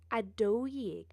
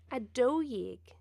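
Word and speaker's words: a dó dhéag: egg a dough yeg be careful here the pronunciation changes slightly a dough egg a tree jig a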